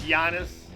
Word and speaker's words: Giannis: is this guy though naming himself genius it's Giannis Yan you're mispronouncing ano okay and then let's see what